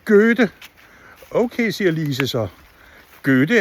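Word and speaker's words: Goethe: Go-e-the er en stor poet. Så siger læreren, oe på tysk, det udtales ø, så det hedder Gø-the.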